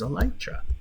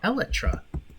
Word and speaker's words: Elytra: I just never think to use Elytra, or Elytra, which is the actual pronunciation according to Mojang themselves. But so many people call it Elytra.